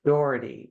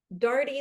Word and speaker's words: Daugherty: with us U my guest today is Anna dhy did I pronounce that correctly Dy like party you were close Dy like party